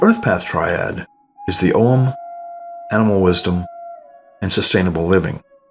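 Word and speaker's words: Ogham: The earth path triad is the om animal wisdom and sustainable living. The basic foundation for the earth paths is the Celtic tree alphabet known as om or sometimes pronounced augum.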